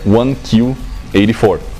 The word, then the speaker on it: 1Q84: gente que fala português, porque 1Q84, em inglês se pronuncia 1Q84. Q, a letra Q em inglês, se pronuncia da mesma forma que Q, que é o número 9 em japonês.